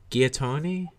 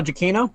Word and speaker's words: Giacchino: How do you pronounce his last name? Michael Giacchino. Michael Giacchino?